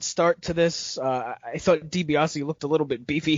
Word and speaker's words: DiBiase: The announcer did not know how to say the last name Dibiase. He kept saying Dibiase.